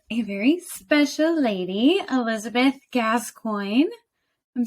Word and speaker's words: Gascoigne: I'm here today with a very special lady, Elizabeth Gascoigne.